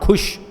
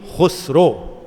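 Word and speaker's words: Khusrau: Hindi no who yes only your pronunciation is wrong it's c kro not Kush Kush Amir kro hazzat Amir kro one of the greatest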